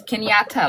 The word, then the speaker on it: Kenyatta: Yes, Kenyatta, like a pinata.